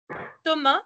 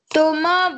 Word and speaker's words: Thomas: Alors, Yahya Dridi, Et Thomas. Thomas, on ne prononce pas le S, oui. Thomas Oui, Bondernier.